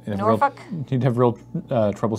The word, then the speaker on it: Norfolk: I believe it is pronounced Norfolk. Norfolk. Okay, forgive me, I am from Canada, and I saw all the letters arranged in the word and assumed that they were there for a reason, that you were supposed to say them all.